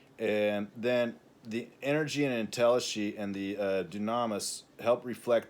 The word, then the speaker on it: entelechy: I kind of overload the word entelechy or entelechy, as it's usually pronounced. That my kind of French reading of it is as entelechy is a way of saying things.